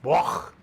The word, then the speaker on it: Bloch: So it's a German name. In German, it's pronounced Bloch. Bloch. You know, that guttural sound. But in America, they just pretend the CH is a K.